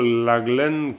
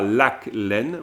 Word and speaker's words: laglen: la petite bête, mais c'est plutôt laglen que l'haleine. Hein. Mais bon, c'est des petits réglages fins, j'en conviens, hein, tout à fait. Mais parce que, à cause du cas, le cas se prononce pas tout le temps en termes de suffixe. Mais par exemple, ici, on dit laglen. Donc, tu as un laglen. C'est pas lac-laine, on n'irait pas jusqu'à dire lac-laine, mais laglen.